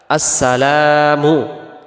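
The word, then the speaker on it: السَّلَامُ: আসেন দ্বিতীয়টা আসসালামু আলাইকা আসসালামু এখানে লামের পরে যে আলিফটা আছে এটাকে এক আলিফ টান দিতে হবে আমরা যদি এক আলিফ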